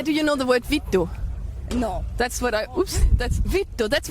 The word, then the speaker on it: vittu: Vittu, it's this V-I-T-T-U, vittu. If you say that on stage, vittu, perfect pronunciation. Vittu.